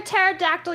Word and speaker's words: pterodactyl: I was for one was like, "Why can't you hear a pterodactyl used the bathroom?" Because the P is silent.